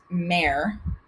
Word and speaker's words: mare: maria spelled like maria the singular tense is mare mare mare meaning sea right so back in